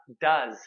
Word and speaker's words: does: begun is half done our one syllable word here is does duh so it's not those that does ah does okay the two syllable